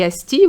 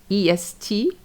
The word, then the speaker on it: est: cœur And for the EST we know that EST is e but when it's direction it's est. So we pronounce all the letters S and the T est.